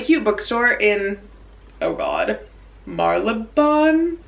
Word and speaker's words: Marylebone: Marlebone? I was saying Marylebone. It's just not true. That's just not how you say it at all. Marlebone? Marlebone.